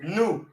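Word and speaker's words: نوح: not a person because they pronounce his name different it's pronounced new so then you say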